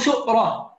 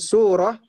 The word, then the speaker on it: سورة: بالسورة سورة أو سؤرة. Taib. Dengan pengucapan surah, ya, dengan pengucapan surah أو atau سؤرة.